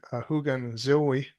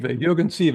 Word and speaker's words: Jürgen Sive: Vistas of Infinity, Hugen Zoe. Am I pronouncing that right? Sive, Jürgen Sive, yeah.